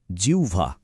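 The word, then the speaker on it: জিহ্বা: এর সঠিক উচ্চারণটা হল জিউভা। খেয়াল করুন হ টা কিন্তু প্রায় সাইলেন্ট হয়ে গেছে আর তার জায়গায় একটা উ সাউন্ড চলে এসেছে আর ব হয়ে গেছে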